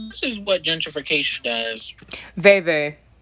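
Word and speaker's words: vèvè: Veve. It's a Veve, not a Leve. It's like Veve.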